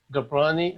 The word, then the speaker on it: Gobrani: and voila our special guest today is jay gaprani uh am i pronouncing your last name correctly you got it